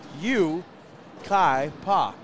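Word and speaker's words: Yucaipa: The Yukaipa. Oh. Yukaipa. Yukaipa. Yukaipa. Yukaipa, California. Yukaipa. There we go. Pa. It's pa.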